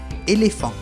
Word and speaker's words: éléphant: La PH es un caso raro, digamos, se pronuncia como si fuera una F. Por ejemplo, un éléphant.